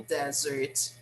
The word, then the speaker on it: desert: very extreme place look it looks like a desert right so what place is this do you